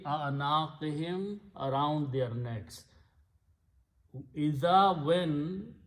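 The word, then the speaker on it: أعناقهم: Then you combine hum for better recitation we do not pronounce hum, we pronounce him for easy tajweed. So it becomes fi a'naqihim, around their necks.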